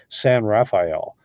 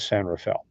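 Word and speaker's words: San Rafael: was called San Rafel it's spelled like it's pronounced San Raphael but it was San Rafel so I absolutely loved it there I still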